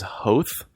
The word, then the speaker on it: Hoth: Did you know that George Lucas actually pronounces Hoth as Hoth? Really? Yeah, he pronounces like the German like umlaut Hoth, but none of the actors do.